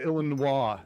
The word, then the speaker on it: Illinois: born and raised in Illinois so I don't pronounce my own state right it's okay it's a Illinois it's okay Maryland is best state isn't it don't pronounce the S I am a I